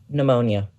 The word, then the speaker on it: pneumonia: will also set in one that starts with a silent p pneumonia pneumonia is right 15